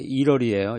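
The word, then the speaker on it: Italy: 옛날에 이태리라고도 했다가 이탈리아라고 이제 표현도 하고 영어식 발음은 이제 1월이에요. 1월이 이 T가 리을로 발음이 돼가지고 1월이라고 그러는데 로마에 거주하는 건축가.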